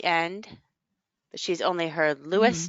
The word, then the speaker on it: Louis: ah at the end but she's only her Lewis not Louis for Saint Louis so what do y'all think